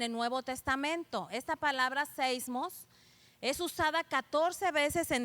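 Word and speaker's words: σεισμός: Entonces, la palabra, hermanos, temblor en el Apocalipsis se traduce como, viene de una palabra griega que se escribe y se pronuncia seismos, ¿verdad?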